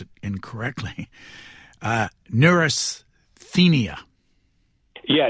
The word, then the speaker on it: neurasthenia: in your book and correct me if I pronounce it incorrectly uh neurasthenia yeah neurasthenia what what does the word mean and why